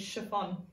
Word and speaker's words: chiffon: our own CH you re an expert is chiffon say chiffon clothes makers you chiffon to make